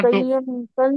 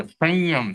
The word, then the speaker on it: संयम: बोलते हैं ना जनरली हां ये न का उच्चारण नहीं है नाक से हो रहा है संयम इस प्रकार से उच्चारण हो रहा है तो न संयम हां संयम संयम तो ये सही है उच्चारण लेकिन इसका अगर